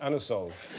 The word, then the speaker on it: Anusol: You have to pronounce it anisole.